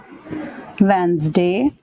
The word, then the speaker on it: Wednesday: Second one इज ट्यूसडे, वेंसडे. इसको बोलते वेंसडे हैं लेकिन स्पेलिंग में आ जाएगा WEDNESDAY.